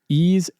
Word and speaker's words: Ys: Ease X, that's YS, that's how you pronounce Ease.